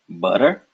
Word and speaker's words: butter: English the D and the T in ladder butter edit the tongue makes a similar motion think about it this